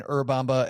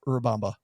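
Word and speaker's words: Urubamba: Or maybe you are saying Urbamba and you pronounce it way better than I do. Like you a little tiny roll of that R.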